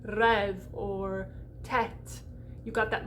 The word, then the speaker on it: rêve: When you see an E, it's open. You're going to open that up. Open it up like pre and rêve.